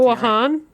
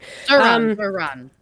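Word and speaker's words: Zohran: No, it was it was I can't I don't know if I'm pronouncing Zhan or it was Zoran. One of the two. I'm so sorry. Zoran Zoran.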